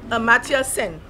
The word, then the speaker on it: Amartya Sen: I pronounce his name as Amartya Sen. Some people may say it differently. That's how I know it.